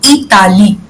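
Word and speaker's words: Italie: Because I को हम French में ई बोलते हैं इसलिए पढ़ेंगे इताली. Italy. हाँ. Italy. हाँ. And the last word we do not pronounce in French.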